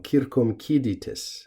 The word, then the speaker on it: circumciditis: But in any case, this is not a loan word, and we want to notice also that this third to last syllable is long, circumciditis.